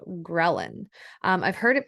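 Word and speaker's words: ghrelin: you might have heard of the hormone called gin um I've heard it pronounced other ways I believe the correct way to pronounce it is gin but gin um is so leptin and gin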